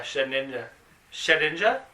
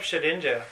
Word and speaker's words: Shedinja: Well, there's also a Shedinja, which is like, okay, there's other Pokemon that molts.